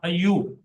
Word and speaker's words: ایوب: ایوب کے معنی ہے۔ صحیح تلفظ اس کا ہوگا ایوب۔ ایوب عبرانی لفظ، اور